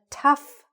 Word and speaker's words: tough: I know it says T-O-U-G-H, but it's not pronounced like that. English is not always phonetic, all right? It doesn't sound the way it looks. So repeat it after me. A tough break. It's like T-U-F-F, all right?